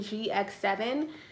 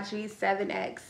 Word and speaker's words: G7X: been saying it wrong i think i've been saying gx7 but um hopefully you guys know i mean canon powershot g7x if i did mix